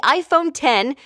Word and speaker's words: iPhone X: iPhone it's called the iPhone 10 and it was just revealed yesterday so here are the highlights first it's written like iPhone X but it's actually pronounced 10 so the Roman numeral